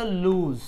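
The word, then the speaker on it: loose: একটু পড়ি আলাদা করে এল ডবল এটার নাম হল লুজ এইযে এইযে অনেকে আমরা বলি না যে লুজ ক্যারেক্টার অনেকেই শব্দটা বাংলায় ব্যবহার করে লুজ ক্যারেক্টার।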